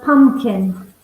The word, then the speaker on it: pumpkin: So be careful. You don't pronounce the second P. Pumpkin. Yeah, it's a silent P.